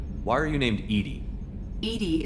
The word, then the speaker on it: EDI: are you named edie edie is the phonetic pronunciation of edi that is an acronym for enhanced defense intelligence why are you named